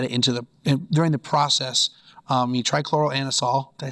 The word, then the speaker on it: trichloroanisole: You trichloroanisole.